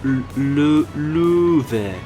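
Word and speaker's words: Löwe: She said it's pronounced Louvre. Louvre. That's how you say lion in German.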